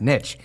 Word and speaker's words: niche: only mispronounced if you don't believe that it's pronounced niche.